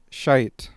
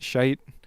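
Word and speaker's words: Schytte: there's one by a composer named Ludwig Ludwig shite that's spelled s c h y t t e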